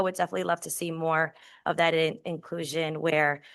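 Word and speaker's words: Meaux: at the moment because her name is spelled M E A UX. Um and I just know her as Miss Mo and I'm thinking M O.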